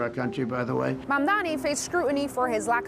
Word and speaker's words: Mamdani: And furthermore, the name is Mamdani, M-A-M-D-A-N-I. You should learn how to say it.